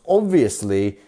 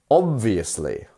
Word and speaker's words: obviously: proceed without further information so we pronounce obviously with a first syllable stress so obviously obviously if you've ever seen Harry